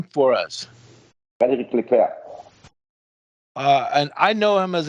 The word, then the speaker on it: Frédéric Leclercq: Can you please pronounce his name for us? Frédéric Leclercq.